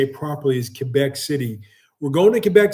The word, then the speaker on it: Quebec: It's actually when you do the French English alliteration, it's not Quebec. The U is silent. It's actually to say it properly is Quebec City.